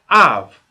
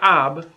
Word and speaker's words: אב: we put these two words together we got av i didn't say ab in bait in the script if there's a